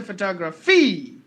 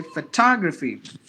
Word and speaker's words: photography: foreign or equal volume only one part is given more volume that is photography thought Rafi I don't say photography I only say photography that is the exact rule as to how this word is pronounced take the next word